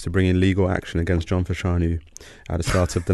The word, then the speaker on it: John Fashanu: I think the pronunciation is Millwall legend John Fashanu. John Fashanu.